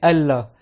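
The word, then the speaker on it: ألّا: Mais normalement dans le vrai arabe littéraire, quand c'est an la, tu effaces le nun et tu écris Allah parce qu'on fait un idrom, le nun avec le lam, et normalement tu dois le prononcer Allah.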